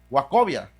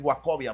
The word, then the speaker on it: Wachovia: Wes Fargo absorbió Wachovia Bank a pesar de Wacovia. Ya estoy con lo estoy pronunciando como se escribe. Es Wakovia Ban.